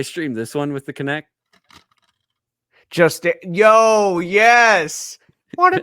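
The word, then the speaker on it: Kinect: with the with the kinetic sensor which I have connect how do you say it connect conect yeah connect I said kinetic this is definitely GameStop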